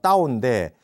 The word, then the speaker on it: 道: 쓰고 그다음에 이제 그 중국어로 도가 따오인데 쓰기를 타오라고 쓰거든요.